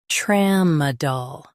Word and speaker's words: tramadol: Emphasize tram and keep soft. Tram, dol. TRAMADOL.